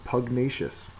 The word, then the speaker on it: pugnacious: So pugnacious is an adjective. The second syllable is accented and it's quarrelome or fond of fighting.